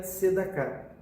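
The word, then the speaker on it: צדקה: Outro ponto interessante da palavra caridade, que em hebraico se pronuncia tzedakah.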